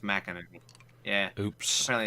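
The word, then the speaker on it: McEnany: which by the way i had said her name wrong like a bunch i heard i kept saying mckinnony oh just apparently it's mac energy yeah oops apparently it's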